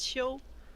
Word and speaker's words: Qiu: my name is my last name is pronounced sho which you can think of it like when you sneeze at you like too kind of like that i don't know that's